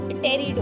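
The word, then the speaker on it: Pteridophyta: अब क्रिप्टोगैमे के अंदर 3 डिविजन्स आए, थैलोफाइटा, ब्रायोफाइटा एंड टेरिडोफाइटा। इट्स टेरिडो, P silent होता है, ठीक है।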